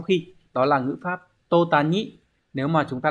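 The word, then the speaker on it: 途端: Như vậy chúng ta sẽ có cái câu này sẽ đọc là tô tàn.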